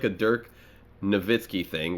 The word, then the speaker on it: Nowitzki: it's like a dirk novitskiy thing where it's spelled nowitzki but polish the w so it's novitskiy unless there's some kind